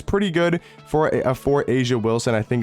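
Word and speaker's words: A'ja Wilson: want a budget option I think it's pronounced Asia Wilson she's a really good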